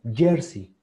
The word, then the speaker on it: jersey: jersey years ok entonces así es como se pronuncia nosotros lo decimos muy similar con lo que nosotros decimos jersey con y jersey y es jersey estoy